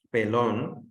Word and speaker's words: pelón: Pero pelón, ¿sí? ¿Vale? Si te fijas, es de dos sílabas, ¿sí? En P no lleva el acento de mayor intensidad, en lon, ¿sí?